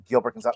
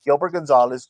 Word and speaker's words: Gilbert Gonzalez: my name is not gilber gonzale my name is for GB Gilbert Gonzalez for I said both